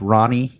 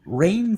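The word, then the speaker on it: Rahne: did you always think her name was pronounced ronnie no you always thought it was raining yeah when i when i read it in the comics i always thought it was ronnie because it's it's spelled r-a-h-n-e i don't know how i don't know how you get rain from that yeah i was gonna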